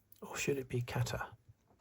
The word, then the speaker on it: Qatar: So, it's around number 23, Qatar. Or should it be Kata? I I hear some people pronouncing it kata, but that sounds that doesn't sound right to me.